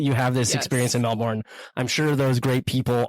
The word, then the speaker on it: Melbourne: They don't pronounce the R's. They're like, yeah, I live in Melbourne.